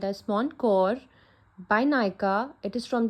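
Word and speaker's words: Mon Cœur: So, Mon Cor means my heart in French. For the pronunciation, I have checked from Google, and Google said that it should be pronounced as Moncor.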